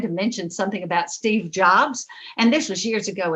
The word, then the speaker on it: Jobs: on the platform and i called him steve jobs you know when you read it doesn't tell you how to pronounce their names and from the audience somebody's sitting on the front row said uh miss walters that's jobs it's steve jobs hello so i was